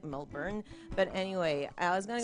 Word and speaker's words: Melbourne: It's like my performance voice, and like my friend was like, it's thinking maybe moving interstate, like going to Melbourne, as the Americans say, when it's actually like Melbourne.